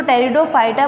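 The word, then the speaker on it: Pteridophyta: इसमें P silent होता है इसलिए हम इसको टेरिडोफाइटा बोलते हैं।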